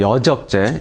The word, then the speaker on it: 여적죄: 그런 경험에 대해서 말씀드리는 건 아니고 그 내란 음모나 이제 선동, 여적죄, 아까 이적죄가 아니라 여적죄죠. 정확한 발음은. 여적죄 이런 부분들을 지금 박 대표님은 마치 기정사실화된 것처럼 말씀하신단 말이에요.